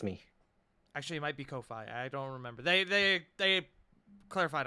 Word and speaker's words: Ko-fi: It's Ko-Fi, no fee. Kofi. Yes, Yes. they just recently clarified what the pronunciation is. It is indeed Kofi. Like As in coffee. no fee. Actually, yeah, Like- it's like Kofi Kingston.